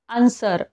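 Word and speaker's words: answer: आता याचे एक्झाम्पल बघा आन्सर इथे बघा एस च्या नंतर डब्ल्यू आलेला आहे डब्ल्यू हे काय आहे सायलेंट आहे नेक्स्ट बघा राईट इथे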